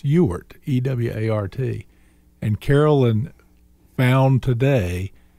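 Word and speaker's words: Ewart: generally won't share with anybody because they all mispronounce it it's ewert e-w-a-r-t and carolyn found today that that means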